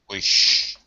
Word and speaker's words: wish: Yes, just watch your short eye. Okay. Wish. Wish. Okay. Yeah, good. And you did that a handful of times throughout the reading. You're still doing a lot of that E sound instead of the I.